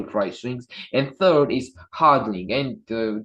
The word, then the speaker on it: hodling: And third is hodling, and just so you know, it's not a typo. It's spelled HODL.